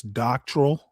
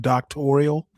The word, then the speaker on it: doctoral: Well, I hope the first thing they teach her in her program is how to pronounce doctrinal instead of doctoral.